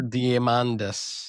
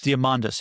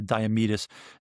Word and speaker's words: Diamandis: I can always never pronounce his last name. Peter Diamandis. Diamandis. Yeah, that's it. I I always want to say Damedus. Diamandis.